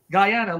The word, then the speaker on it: Guyana: Guyana or Ghana Guyana Guyana like Diana Dirty Diana no are